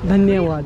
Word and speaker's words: धन्यवाद: You pronounce now. Shukriya. Yeah. Shukriya. And dhanyawad.